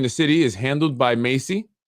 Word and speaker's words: MHACY: section 8 here in the city is handled by macy pronounced macy like the name or macy's the store which stands for uh